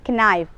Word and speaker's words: knife: But the letter K is silent here. There is no need to read knife.